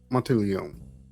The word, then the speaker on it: Monteleone: Lovely Hotel Mausoleum and why do I keep on putting the c in there it's Monteleone that's how I keep I just realized I keep mispronouncing it last episode but yes the Monteleone